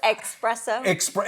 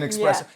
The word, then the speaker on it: espresso: especially I don't know espresso yeah an expresso and you're coming from a guy who mispronounces things all the time but when I hear people say Express or whatever especially I don't know